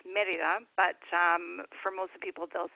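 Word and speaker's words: Mérida: city of the state is Merida so it's pronounced Merida but for most people don't say it Merida the local the state is located directly next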